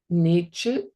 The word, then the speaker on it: Nechu: So please say Nechu, and this is a hard cutoff on that ch.